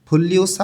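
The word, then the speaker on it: 분류사: সংখ্যা ওয়া এবং ফুল্লিউসা নিউনের পরে যখন রিউল আসে তখন দুইটাই লইয়লা উচ্চারণ হয় এটা ভাতমের নিয়ম ফুল্লিসা অর্থ শ্রেণীবাচক এই শ্রেণীবাচকদের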